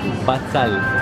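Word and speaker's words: בצל: Cebolla se dice batzal.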